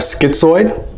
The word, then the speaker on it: schizoid: Another one, you can have schizoid. Schizoid, easy way to remember schizoid is it rhymes with android.